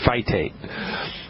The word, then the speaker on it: phytates: spell that for you p hy t like tom is a t like thomas e fight ate a fight a fight